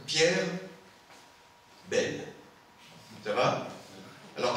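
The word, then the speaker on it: Pierre Bayle: à la fois alors je vais prononcer à la française hein pierre belle ça va alors à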